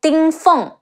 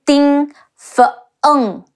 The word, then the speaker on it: Ding Feng: Anyways, there is also Ding Feng, De Ying Ding Feng, Feng, Ding Feng, and Lu Su, Le Wu Lu, Si Wu Su.